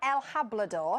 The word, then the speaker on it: El Hablador: Now, it's called El Hablador. El Hablador, It yes. rhymes with Labrador, that's how I remember it.